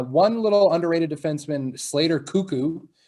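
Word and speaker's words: Koekkoek: bring in uh one little underrated defenseman slater cuckoo name of the century here and it's spelt very weird i don't know if you've ever heard of heard of him k-o-e-k-k-o-e-k slater cuckoo he's kind of one of those analytical darlings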